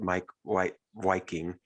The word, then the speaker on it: Meik Wiking: Meik Wiking, so he spells his name Meik, but I think he's from the Netherlands or something like that. So he pronounces it Meik Wiking.